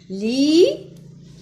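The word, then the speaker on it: lit: Li s'écrit par T à la fin qui ne se prononce pas.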